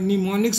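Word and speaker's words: mnemonics: और निमोनिक्स में क्या है, निमोनिक्स तो लिखते हैं एम से, लेकिन बोलते हैं निमोनिक, बोलने में एम साइलेंट है, स्पेलिंग में एम लिखना है, उसको याद रखना, बोलने में क्या है, एम साइलेंट है, लिखने में लिखना है।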